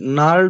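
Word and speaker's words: gnarled: वह बहुत मोटा है नारल branches spread out like joint arms और जो उसकी टेढ़ी-मेढ़ी नारल मींस क्या होता है यहां जी साइलेंट रहेगा जो टेढ़ीमेढ़ी की जो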